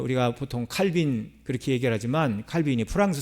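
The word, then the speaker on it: Calvin: 그러니까 어 우리가 보통 칼빈 그렇게 얘기를 하지만 칼빈이 프랑스 사람입니다. 그래서 프랑스 식으로 어 칼빈을 발음을 하면 깔뱅이 돼요. 깔뱅.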